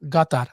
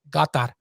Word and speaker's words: Qatar: yeah by the way the correct way to pronounce qatar apparently it's like a soft g with a gata that's i did my homework a while ago to listen to uh qatari natives to say got that but you know you